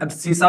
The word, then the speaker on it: abscissa: X axis को हम एब्सिसा भी कहते हैं। एक्स एक्सिस को एब्सिसा भी कहते हैं। क्या स्पेलिंग होता है, ABSCISSA, एब्सिसा।